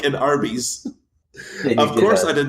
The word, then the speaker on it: Arby's: here's what I found out is Arby's, like it's spelled Arbys.